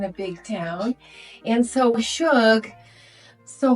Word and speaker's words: SHUG: up with the name so Suge is actually a derivative of sugar which is a southern endearment right my Texas mom calls me Suge all the time now she spells it sug but phonetically that makes no sense because that's actually thugg right oh so sug was as close as I could get to the phonetic for the short abbreviated form of sugar oh that's fun which